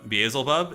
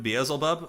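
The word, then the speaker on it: Beelzebub: Uh, Baselbub, is that how you say it? Bezelbub. I probably just been saying it wrong on on not on Ax, but like I just was reading it wrong.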